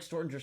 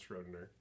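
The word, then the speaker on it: Schrödinger: Stortinger. Oh my god. Is that a reference to something, or do you actually know how to pronounce Schrodinger? No, I didn't know how to say Schrodinger.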